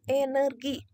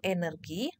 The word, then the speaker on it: energi: z dan Z nah begitu juga dengan kata energi harus diucapkan dengan benar yaitu energi bukan energi ataupun energi Cukup jelas ya Nah selanjutnya yang kedua